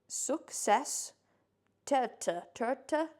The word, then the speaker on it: Suksessterte: It is spelled SUKSESSTERTE. Success terte.